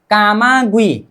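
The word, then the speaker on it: 까마귀: C yoga we direct 'गुई', कामागुई, उच्चारण कैमागुए, कैमागुए, कैमागुए, कामागुई का अर्थ है कौआ।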